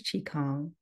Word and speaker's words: qigong: for the people who don't know what is chong chong very well very good pronunciation I got it that time yeah it's